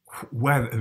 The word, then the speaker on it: weather: Weather, right? He pronounces the H in weather.